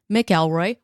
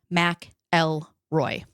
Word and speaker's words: McElroy: talking about Ken Rex mroy yes mroy not mckelroy which I thought for the entire duration of writing this script it is in fact pronounced Mac L Roy but this is a man accused of tormenting